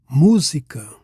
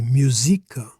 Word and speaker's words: música: Música. This is a proparoxytone. Stress is on the third from last syllable. So here we need the graphical accent. Otherwise it would be musica instead of música.